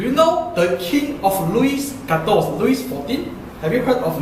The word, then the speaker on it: Louis: Have you heard of Louis XIV? Louis. King Louis. Yeah, King Louis. Not Louis. Don't make it sound like Chinese. Louis. Actually, it's a Louis. Actually, it's Louis, but the S is silent.